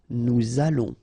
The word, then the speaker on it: nous allons: Remember, final S not pronounced. O and together, it's on. and then we'll make this little link between the two, what we call the liaison. Nous allons.